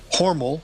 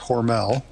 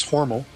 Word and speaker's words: Hormel: where it was uh horal not Hormel hor that's how they that's that's how they pronounce it in Austin it's horal um but I grew